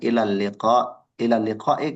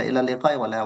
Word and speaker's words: إلى اللقاء: ولكن هناك يعني بعض الأخطاء في النطق، مثلا إلى اللقاء ليس إلى اللقاء ولكن إلى اللقاء إلى اللقاء.